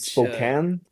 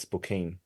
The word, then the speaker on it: Spokane: Spokane? Wow, all my life I've said Spokane. The locals say Spokane.